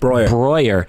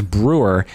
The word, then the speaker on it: Breuer: the thing is is I think it's Austrian because you say Brer Brer Brer because it's the same spelling EU in Freud is oi so from that part